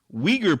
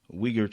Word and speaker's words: Uyghur: apple was linked to forced labor from the uyghur people in China I think that's how you pronounce it it's the one that start with